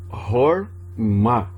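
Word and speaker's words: חכמה: Aqui o camates é um O, é um A, porque é uma sílaba aberta. Então como que eu leio? Horma, que é a palavra sabedoria.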